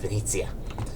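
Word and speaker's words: Venezia: It like he like has this suit and like he can do high stuff and he always gets mad when you pronounce Venice as Venice instead of Venitzia.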